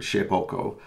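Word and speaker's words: Shapeoko: Ship Shape Oco and it's spelled nearly how it sounds the word shape and then o-k-o and it's all one word shapoko um and it's a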